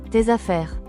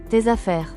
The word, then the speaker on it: tes affaires: So your pronunciation sounds more natural when speaking. Tes affaires. Tes affaires.